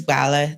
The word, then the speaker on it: Gbala: It's Gbala, the G silent.